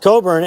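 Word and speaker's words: Cockburn: is called Coburn town it was a Scottish name pronounced Coburn and that's the capital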